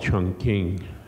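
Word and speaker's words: Chongqing: major cities um it used to be called Chun King it's now what Chun quing yeah I always have trouble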